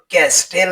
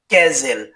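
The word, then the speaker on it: castle: সি এ এস টি এল ই এর উচ্চারণ ক্যাস্টেল হবে না। এর উচ্চারণ হবে ক্যাজেল যার অর্থ হল দৈর্ঘ্য।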